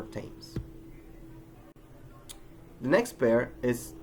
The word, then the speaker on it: Thames: An exception to this case is thus of some words that are pronounced with a normal T, even though they are spelled with a th, as in Thomas, Teresa, or Thames.